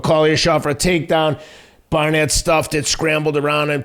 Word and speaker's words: Barnett: Barnett, yeah, Barnett.